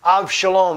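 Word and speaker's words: אבשלום: Absalom is how you say it in English. Avshalom is how you say it in Hebrew, his name, which means my father is peace.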